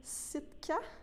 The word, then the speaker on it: Sitka: Donc, tu as fait un nouvel album qui se nomme Sitka, si je le prononce bien.